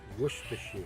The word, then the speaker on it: Worcestershire: a little more liquid here, so get some Worcestershire sauce. That enhances your beef flavor, as well. Not the one I buy. Gives you a little umami. And it is pronounced Worcestershire. Worcestershire.